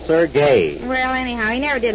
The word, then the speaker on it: Serge: his name is not Serge I told you over and over to stop calling him Serge s e r g e is Serge it's pronounced sergay well anyhow he never